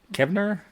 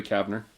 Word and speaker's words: Kavner: Well, Julie Kevner? Yeah. I'm getting the name wrong. Julie Kavner.